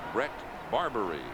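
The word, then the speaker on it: Bret Barberie: Now we're told that uh the proper pronunciation is Brett Barbari.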